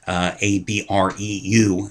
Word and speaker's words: Abreu: Listen, if Akron had their starting point guard, Alex Abreu, I think that's how you pronounce his last name, A-B-R-E-U, Abreu.